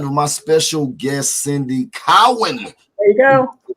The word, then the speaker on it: Cowan: the very lovely cindy cohen we are out of here that went actually cohen cowen furious wrong you got to say it right cowan and please forgive me